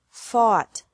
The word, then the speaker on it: fought: ugh tea or a ugh tea but the pronunciation is the same bring brought brought by bought bought catch caught caught fight fought fought seek sought sought teach taught taught think